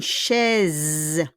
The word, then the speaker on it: chaise: The S will become a Z, okay? Une chaise. It's not chess, okay? Shh. You need to pronounce the CH come shh. It's not Charles, okay? It's not cha. It's not cha. It's shh.